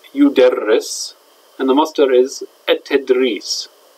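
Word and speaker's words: يُدَرِّسُ: In the present tense, it's yudarris.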